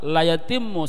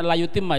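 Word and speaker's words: لا يتم: yang tidak sempurna salatnya, la yatimmu salatuhu, yang tidak sempurna salatnya, ini bacanya la yutimma ya Van. La yutimma, asal la yutimma.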